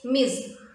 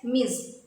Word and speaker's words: Ms.: to refer to women is miz m s miz well this is an